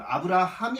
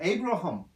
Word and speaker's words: 아브라함: 이때는 지금 아브라함이 아닙니다. 에이브러함. 영어로 에이브러함인데 히브리어로는 한글 발음과 똑같습니다. 아브라함. 아브라함이 히브리어 발음이자 이 참 한국어가 그래서 참 더 좋은 것 같아요.